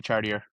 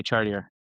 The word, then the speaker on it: Chartier: But in the US, we just say Chartier.